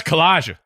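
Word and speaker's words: Kowaliga: How do you say this collag?" She's like, "Oh, that's Collaga."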